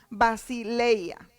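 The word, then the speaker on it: βασιλεία: Cuando estudiamos en la palabra nos damos cuenta que la palabra reino se traduce en el griego basileia. Así lo estoy pronunciando como se escribe.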